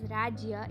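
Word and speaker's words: રાજ્ય: Now if I want to write the word state in Gujarati, the word is pronounced as Rajya in Gujarati, so I will write that also.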